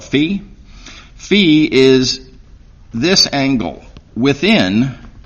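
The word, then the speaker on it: phi: Fe notice pronounce v you're going to want to call it fi but uh more common is call it Fe Fe is this angle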